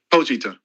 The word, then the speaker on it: Pochita: How you pronounce it again? Pochita.